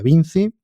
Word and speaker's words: Vincci: enteremos bien de que a pesar de la escritura con las dos C, pues que se pronuncia Vinci, yo voy a hacer